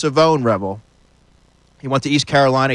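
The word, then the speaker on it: Shavon Revel: It's pronounced Savone Rebel.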